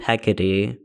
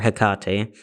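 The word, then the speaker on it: Hecate: So she along with Athena, Artemis, and I believe Hecade or Hkate. There are different ways to pronounce her name. I go by Hikate because that's how I think I've heard Helenists pronounce her name.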